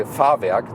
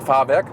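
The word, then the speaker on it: Fahrwerk: in german it's like i always always say farvak that's suspension so bielstein farvek german lesson for today it's the bielstein suspension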